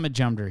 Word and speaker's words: Majumder: hey everybody Shaun Majumder here it's pronounced majumder pretty easy if you look at